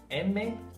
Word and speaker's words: manzana: We just need to keep in mind that the letter zeta is not pronounced as Z, but rather as an S.